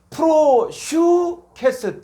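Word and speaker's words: προσευχῆς: 예, 프로슈케스 때 프로슈 요게 이중 몸에서 요게 유 발음.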